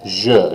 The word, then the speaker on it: je: Je. Again, that J-E by itself is always a je.